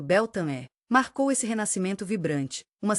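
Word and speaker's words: Beltane: Beltan, pronunciado Beltané, marcou esse renascimento vibrante.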